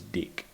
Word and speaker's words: dick: in a person is Dick and it helps if you pretend it's spelled D e e k um unfortunately the word